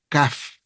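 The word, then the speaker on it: כ: La Kaf no tiene este dagesh, este punto, porque se pronuncia como una K.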